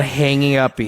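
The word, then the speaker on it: Hangge Uppe: So it's on Elm Street and it's called Hangy Uppie.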